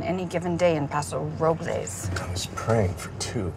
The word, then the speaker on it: Robles: They call it Paso Robles, Well, the correct pronunciation is Robles. but they call it Robles.